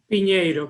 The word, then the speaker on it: Pinedo: You know, I'm pronouncing it Pinedo like it's IE, but I understand that it's EI. So please pronounce it for me again. Pinedo, but that's good.